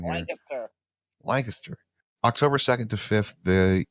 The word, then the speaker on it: Lancaster: Give me the Pennsylvania pronunciation here. Lancaster.